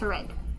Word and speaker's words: read: before lunch here red this one is pronounced as red would you please read it one more time for red red red very good because it happened in the past already so before launch he read